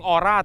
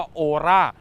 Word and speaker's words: ORA: ร่า นะ ครับ ก็ คน อาจ จะ ออก เสียง ออร่า แต่ ถ้า ถูก ต้อง มัน ต้อง ออก เสียง อย่าง ที่ เขา บอก ว่า โอราช นั่น คือ เจ้า โอราช